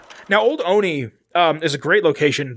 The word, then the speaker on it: Olney: but it's like spelled dumb o-l-n-e-y but it's pronounced oni like the animator uh so old oney um